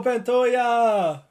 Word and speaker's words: Pantoja: much bigger let's go pantoya or just panta you pronounce the J's because it's Portuguese so when because people